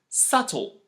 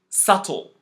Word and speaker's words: subtle: Deb doubt subtle again this second set is also related to the letter B but this time it's not pronounced for a different reason it is not pronounced because it is followed by the letter t as the end or around the end of a word once more if you